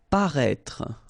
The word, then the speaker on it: paraître: the first video, then we had as well this accent circonflexe on the top of I here, but then you don't pronounce it. Okay, so you should write it definitely because you know that's the correct way to write it, but then you don't pronounce it. Paraître. Okay, same thing. Final E is not really pronounced, so paraître.